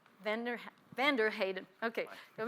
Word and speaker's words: Vander Heiden: Professor Heijden, is that the right pronunciation? It's van der Heijden.